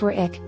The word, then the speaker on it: Warwick: place names, namely, that of the W in the Wich suffix, which, as I understand it, is not enunciated.